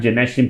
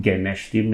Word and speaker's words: Genashtim: And that time, Gynashteem, people can't pronounce it properly. They call it Genashtim, and most people thought we were an Indian company because of Ganesh and all that kind of stuff.